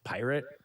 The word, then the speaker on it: PYRT: So it's not pirate. He says it's pronounced pirate, which even with liberties, that ain't how you spell pirate.